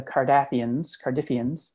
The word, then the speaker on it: Cardiffians: He's one of the Cardiffians, to rhyme with ruffian, of course.